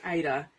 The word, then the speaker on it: Ada: So behind the camera today we have my lovely 9-year-old daughter Aida.